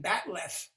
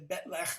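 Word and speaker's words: bat'leth: this thing comes up, it's pronounced a few different ways, but they finally settled on batleth. And even batleth is non-Klingon, so you had to Klingonize it into betlech, and batleth is just this stupid federation of mispronunciation.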